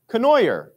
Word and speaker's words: Kenoyer: ah there you go the last name is pronounced just like DeNooyer but with a C okay kenoyer well thank you